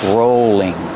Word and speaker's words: rolling: pin a rolling pin use a long o sound for row rolling and the L is